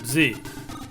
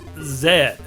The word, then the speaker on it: Z: i'm an american where we pronounce the letter z as just that z in britain apparently it's zed anyway our next release